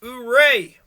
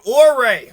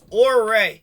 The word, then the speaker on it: Ouray: ago Utes always had plenty this is Chief hooray hooray through right now or Ray all right we gotta say it correctly it's spelled hooray it's pronounced or Ray so just pretend that U is an r